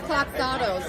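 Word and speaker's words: Kloxxado: How do you pronounce this stuff again? This is Cloxado, so it's 8 milligrams versus 4. It's got the Naloxone in it, which is the blocker. Similar to Narcan, but it's Cloxado.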